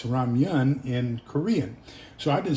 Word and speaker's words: ramen: I've always pronounced it ramyun, and everybody else pronounces it ramen. And I thought, well, you guys don't know what you're doing. What I found out in my studies is it's ramen in Japanese and Chinese, and it's ramyun in Korean.